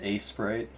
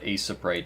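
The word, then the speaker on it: Aseprite: hmm grab this you always pronounce it a Sprite my dad pronounces it pronounces it a Sprite too I call it Ace of bright just because I don't know that's how I pronounced it when I first got it yeah I'm a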